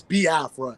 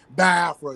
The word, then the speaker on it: Biafra: the i e sounds but it's B Afra because even myself even with my my my Southern you know say accent is like I get tongue tied and I say ba afro so it's ba afro